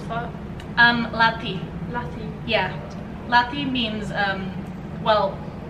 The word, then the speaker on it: Lathi: How do you pronounce that? Lati.